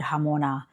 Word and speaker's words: jamona: Um, so today I really want to talk about the word hamona. And it's spelled J A M O N A.